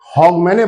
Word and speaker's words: Hogmanay: इसको जो एंड ऑफ the year है उसको हॉगमैने बोलते हैं। हॉगमैने ये उसकी स्पेलिंग है, HOGMANAY।